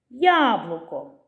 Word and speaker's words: яблуко: з них падає наголос яблуко скільки складів у цьому слові три склади на який сних падає наголос яблуко на перший склад лелека скільки складів у